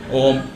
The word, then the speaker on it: ओम: ओम ओम ओम ओम, जबकि कहीं भी ऐसा उच्चारण नहीं है। ओम का है लंबा सांस लीजिए, ऐसे देखिए, इस तरह ओम का उच्चारण करने से आपको विशेष शक्तियां प्राप्त होती हैं।